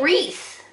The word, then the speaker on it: wreath: line wavy wavy connect this is a wreath wreath there's your silent letters now come down to